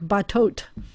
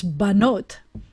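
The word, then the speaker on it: בָּנוֹת: changes a little bit but the plural of bot you would presume was something like batot but it's banot there's a nun in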